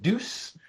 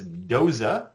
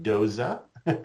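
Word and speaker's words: Doose: about is is Dosa syndrome and I often pronounced it deuce and I was told no it is not like a moose it is Doza pronounced Doza and so that is the correct pronunciation of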